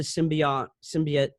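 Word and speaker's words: symbiont: the host of the symbiote? Oh gosh, I'm sure I said that wrong. You said it right, symbiote.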